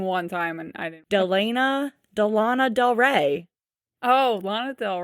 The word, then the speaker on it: Delana: I found her on Facebook, and you know how Facebook you can do like your pronunciation? Yeah. Hers said DE-LAN-A.